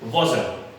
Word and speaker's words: wasn't: next is, ये बहुत से लोग गलत प्रोनाउंस करते हैं, और बहुत कॉमनली सबसे ज्यादा गलत प्रोनाउंस होने वाला एब्रिविएशन है, कॉन्ट्रैक्शन है, जिसे हम बोलते हैं was के साथ not ऐड करके wasn't। I wasn't playing cricket, ये wasn't नहीं होता, this is wasn't।